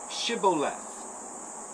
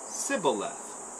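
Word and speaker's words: shibboleth: said to him then say shiboleth and he said sybileth for he could not pronounce it right then they seized him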